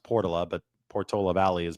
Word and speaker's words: Portola: because I know the neighborhood in San Francisco is pronounced Portala, but Portola Valley is pronounced Portola.